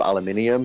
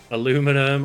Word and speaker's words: aluminium: Yes, as well, I'm using different pronunciations of aluminium, because it pisses everybody off that way. Aluminum, aluminium.